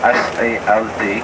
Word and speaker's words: Salt: Maybe it is written Salt, S-A-L-T, but we pronounce it Salt.